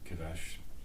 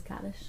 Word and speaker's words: Kaddish: Kiddush said, probably. Mm-hmm. Yeah. Did I pronounce that right? Kaddish? We say, yeah, the mourner's Kaddish.